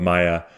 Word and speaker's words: Maya: spiritual journey in the form of, is it pronounced Maya? Mm-hmm. In the form of Maya, that takes him through a life of obtaining